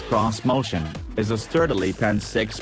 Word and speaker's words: Xmotion: 2020 onward this motion which Nissan insists should be pronounced cross motion is a sturdily pen